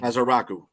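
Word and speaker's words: Ezeiruaku: I don't know how to fucking pronounce his last name. Edge rusher from Boston College. Ezaraku. I've been practicing. Azaraku.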